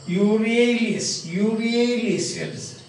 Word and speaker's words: Euryalus: The pronunciation is very interesting now. Euryalus.